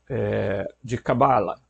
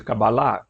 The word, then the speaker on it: Cabala: Então, o pessoal confunde a palavra Arcamote com Rockman, lá daquilo que se chama comumente de Cabala, ou de Cabalá, alguns pronunciam de um jeito, outros do outro.